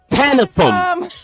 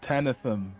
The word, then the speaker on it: Tanifum: in the studio this time, the lovely Tanifum. Tanifum. Hello, thank you for having me. Very nice to be, here. Tanifum, right?